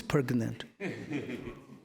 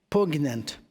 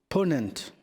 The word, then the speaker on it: poignant: Who is pregnant? Huh? Poignant. How do you say it? Pronunciation? Huh? Pregnant. Pregnant. No? Ponent. Ponent, not pregnant.